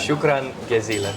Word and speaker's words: شكرا جزيلا: Shukran jazila.